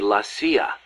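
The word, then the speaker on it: la CIA: around here they say la sia instead of c.i.a huh nothing strange about it that's how it's pronounced when you read it in spanish it has the feminine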